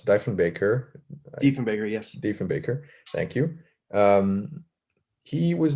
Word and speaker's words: Diefenbaker: And do you think that NATO, as was raised by a prime minister whose name I always mispronounce, Diefenbaker, Diefenbaker, yes. Diefenbaker, thank you.